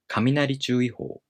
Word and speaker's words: 雷注意報: in the following noun, the first part of a compound noun becomes unaccented, and the following part keeps its original pitch accent pattern.